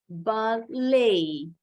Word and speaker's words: ballet: Jadi penekanannya ada di suku kata kedua. Ballet.